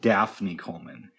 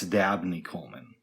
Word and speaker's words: Dabney Coleman: I thought you pronounced an actor's name, or this actor's name, Daphne Coleman. It turns out it's Dabney Coleman.